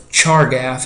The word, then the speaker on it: Chargaff: a guy named of chargaff is how you say that pretty much just how it's print harder just how it looks and he said that